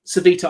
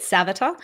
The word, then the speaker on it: Svita: So, I always pronounced it Savata, but I've just heard my Sav but but no, you are correct. I am wrong.